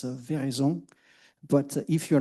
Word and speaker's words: Veraison: The original way should be French and it's a vision.